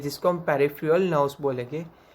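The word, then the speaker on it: peripheral: Then after पेरिफेरल, ये भी उसका एक प्रोनाउंसिएशन यहाँ पे उसको मैंने दिखाया है, PUH, पू, RIF, reef, UH एंड RUL, पेरिफेरल। उसको हम स्पीड में बोलेंगे पेरिफेरल।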